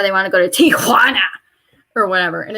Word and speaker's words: Tijuana: i remember that but j's sound like h's so i guess tijuana would be a more accurate pronunciation but like they just say it so obnoxiously and like they put emphasis on the so it's not it's not just tijuana it's tijuana and